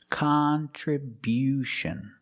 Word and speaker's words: contribution: We change the stress to the first and third syllable. Contribution. contribution. The first and third syllable. Stress the first and third syllable. Contribution. And because we stress the first syllable, the sound changes.